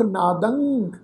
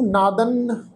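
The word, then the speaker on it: ਨਾਦੰ: गुरमुख नादंग गुरमुख वेदंग, इनू नादन वेदन कई नन्ने अखर की टोन च प्रनाउंस कर जाते हैं जी, नादन वेदन नहीं भाई, इदा नहीं, ये बहुत गलत प्रनाउंसिंग है।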